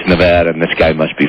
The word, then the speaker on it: Nevada: pronounce Nevada right or didn't care whether you pronounce it Nevada or Nevada he didn't care we are happy it's Nevada and this guy must be from California probably